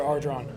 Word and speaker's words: Ardron: What's the correct pronunciation of your last name? Tyler? Tyler Ardron. Aldron.